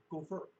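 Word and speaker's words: גֹּפֶר: get to that word, it's actually pronounced gopher.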